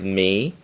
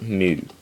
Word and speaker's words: mu: of negative three mu modern pronunciation is me but do not pronounce it me pronounce it mu mu this is even